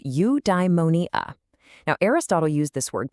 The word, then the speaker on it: eudaimonia: It's pronounced eudaimonia.